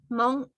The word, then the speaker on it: Hmong: And in English translation is Hmong. All right? Because as you know, in English, the H is silent, right?